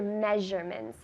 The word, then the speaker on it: measurements: measurements what are your measurements measure that s is not measure it's measure as if it were sh measurements tell me measurements